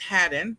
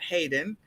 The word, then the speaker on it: Haddon: It's Haddon, not Hayden.